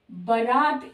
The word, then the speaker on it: बरात: गई या बारात तो बारात शब्द नहीं सही होता बारात शब्द सही होता है बरात जिसमें ब में आ की मात्रा ये गलत है ब में आ की मात्रा नहीं होती र में होती है बरात सही शब्द है इसी तरह से आहार